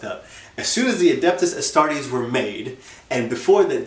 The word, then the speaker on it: Adeptus Astartes: Adeptus Astartes? Yeah. Yes, the right way to say it. Adeptus Astartes.